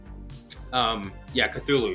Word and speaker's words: Cthulhu: Yeah, Cthulhu.